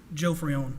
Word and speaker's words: Joe Freon: pronounce your last name Joe Freon like your average Joe and then Freon the stuff you put in an air conditioner gotcha that's that was